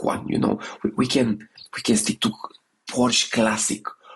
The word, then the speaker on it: Porsche: we can stick to Porsche classic. PorSche is the way how we should pronounce it.